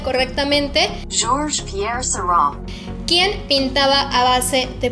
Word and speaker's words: Georges Pierre Seurat: Te voy a dejar aquí cómo se pronuncia correctamente. Georges Pierre Seurat.